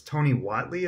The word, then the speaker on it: Tony Whatley: today is, I'm going to probably say your name wrong, but it's Tony Whatley.